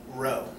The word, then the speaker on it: rho: Greek letter row um it's spelled rho if you if you spell it out phonetically that's row and this row is